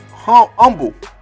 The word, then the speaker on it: Humble: This word right here always gets me because in Houston, there's a suburb that's called Humble.